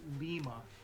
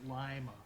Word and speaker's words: Lima: America Town yeah there's a town in Ohio called Lima except they pronounce it Lima and it it just